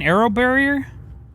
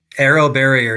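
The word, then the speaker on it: AeroBarrier: And is this where it kind of cascade ar how do you pronounce that again? Arrow barrier. Arrow barrier.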